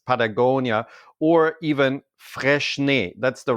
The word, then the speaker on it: Freixenet: a clothes brand, just like Patagonia, or even Freixenet. That's the right way to pronounce it.